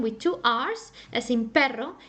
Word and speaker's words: pero: perro a dog perro now you can also pronounce it very Softly As in did you see my tongue it just goes up and down only once very Softly very very softly for example pero pero that means but for example